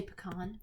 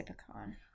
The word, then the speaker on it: pecan: Yeah, we ate a whole pecan pie and it was amazing. Wow. How do you say pecan? I say pecan. I say pecan, I think. Sometimes I say pecan. Yeah, sometimes I say pecan. It sneaks out, but usually